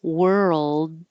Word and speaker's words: world: that consistent Earl noise so were like where were you and then keep your tongue moving to the front from your R position to the L and keep making sound and hold the L position a little longer so the L can be heard so that number seven world doesn't sound like number eight word so make it two